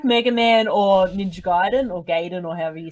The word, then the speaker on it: Ninja Gaiden: The correct pronunciation would be Ninja Gaiden.